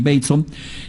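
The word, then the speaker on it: Bateson: descubrimientos que es eh gregory Baton gregory bon se escribe pero es gregory bon es por mucho eh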